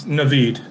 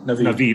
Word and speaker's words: Navid: Am I pronouncing your name properly? It's Navid. Navid. Okay, I did it right the first time.